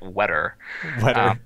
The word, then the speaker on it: Weta: from Peter Jackson now WETA is pretty or as he pronounces it wet W you need the you need the r the fake R um they they do